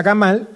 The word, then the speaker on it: gamal: Se pronuncia gamal, que significa camello, y responde a la letra gimel.